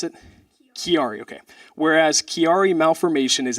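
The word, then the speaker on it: Chiari: awesome so it says and how do you pronounce it kiari okay whereas kiari malformation is a serious neurological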